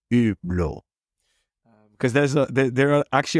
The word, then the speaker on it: Hublot: so for the record it's not hublo but it's blo cuz there's there are